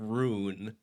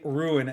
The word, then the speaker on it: rune: I'm making fun of your pronunciation of rune. I do. I I only learned recently that I say that one wrong. Rune. I say ruin, not ruined. That's But it I I don't think it's wrong.